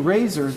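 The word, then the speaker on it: RASSOR: So they're going to show you razors. If you Google razor spelled with two S's in the middle, R-A-S-S-O-R, Google razor NASA, it's been all in the news the last 2 days.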